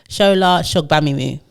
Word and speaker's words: Shola Mos-Shogbamimu: She said, sound it phonetically, Shola Mos-Shogbamimu. Yeah.